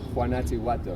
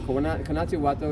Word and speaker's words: Guanajuato: Okay, so the way that they would pronunciate that is Guanajuato. Now, Guanajuato is the best of my pronunciation. I've read it and I've heard other people say the word. I've never heard an actual indigenous person say it. So I can't imagine exactly how it's pronounced, but the way it's written is Guanajuato.